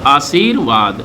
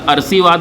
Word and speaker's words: आशीर्वाद: इसके बाद ये दा, आशीर्वाद, आशीर्वाद, ये ध्यान रखिएगा। इसका अगर उच्चारण देखें तो ये आशीर्वाद लिखा हुआ है, अगर इसका पूछें तो इसका अरसीवाद लिखा हुआ है, ये ध्यान दीजिएगा, अरसीवाद।